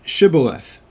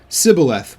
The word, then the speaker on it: shibboleth: him say the word shibboleth and they would and he would say sybileth without the s-h it would be s-i for they could not pronounce it correctly so it's oddly enough